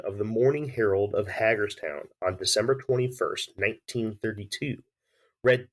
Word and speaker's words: Hagerstown: Is that how you pronounce it, by the way? Hagerstown? Yes, it's Hagerstown, Okay.